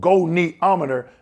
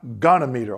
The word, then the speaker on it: goniometer: Said, Dwayne, you're pronouncing this wrong. It's called goniometer, not gonometer, okay?